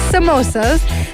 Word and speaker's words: samosa: Some people call it samosas. Yeah. Some people call it sambusa. So it's Samosas. No. That's just no. But it's samosas.